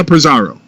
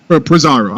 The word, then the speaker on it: Purrazzo: One of the best matches all weekend between Slammiversary and Extreme Rules War Show was Jordan Grace versus Deonna Purrazzo. Purrazzo. I was saying her name wrong.